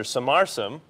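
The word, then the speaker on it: Sumarsam: And of course, this is Professor Samarsam. Did I pronounce that correctly? That's right.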